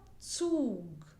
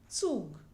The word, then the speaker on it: Zug: And its pronunciation is a sound which is a mixture of the sounds th and s.